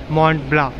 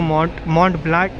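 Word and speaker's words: Mont Blanc: और फिर वहाँ पे लिखा है मॉन्ट ब्ला, तो फिर उसको मॉन्ट ब्लैक ब्लैंक ऐसा कुछ तो लिखा है, बदल you have to pronounce it मॉन्ट ब्ला।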